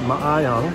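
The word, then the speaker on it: maayong: m-a-a-y-o and G but they pronounce every vowel so it's my own all right then just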